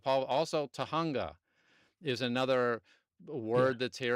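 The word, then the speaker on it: Tujunga: it's a it's so at first it used to say Jajjunga Avenue because it would pronounce the J's wrong and today it actually says Tahunga.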